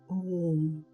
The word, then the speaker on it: ओम: कहते हैं यह तीन ध्वनियों से बना है। अ, उ और म।